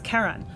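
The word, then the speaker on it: Charon: so um like I guess uh the community pronounces it Sharon after Charlene but it's officially named after um you know a mythological figure so and and the correct way to pronounce it in that case is Karan but in in a scientific conference you're not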